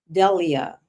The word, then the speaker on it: Delia: It is not Delilah, it's Delia. I hope I pronounced that correctly.